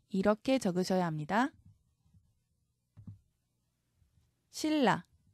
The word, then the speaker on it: 신라: 니 이렇게 적으셔야 합니다 신라 니은이 리을 앞에서 리을로 바뀌는 유마입니다 신라로 적습니다 엘이 나와야 합니다 그다음은 니은 리을이 덧나는